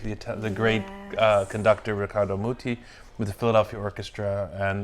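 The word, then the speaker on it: Riccardo Muti: at the age of 14 you played with Ricardo miti richardo no I'm joking I'm joking this go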